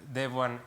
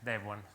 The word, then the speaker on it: Devuan: And it's spelled Devuan in English, Devuan, okay?